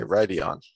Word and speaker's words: Rhuidean: Okay, Rhuidean.